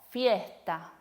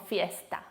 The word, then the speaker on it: fiesta: Otros ejemplos son mosca, no decimos mosca, sino mosca. Pasto, no decimos pasto, sino pasto. O fiesta, no decimos fiesta, decimos fiesta, ¿sí? Un poquito más aspirado.